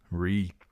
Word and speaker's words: Reek: Reek, Reek, it rhymes with shriek.